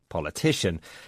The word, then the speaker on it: politician: Sometimes it's pronounced shun.